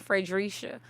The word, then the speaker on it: Fredrisha: from the south so i always used to pronounce my name fredericia so you can call me frederica or now on the ballot